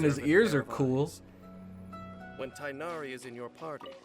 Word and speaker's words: Tighnari: When Tainari is in your party, Tainari, that's how you say it.